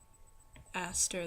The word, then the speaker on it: Astor: he is a pastor astor the pastor pastor astor it rhymes okay i'll do another set of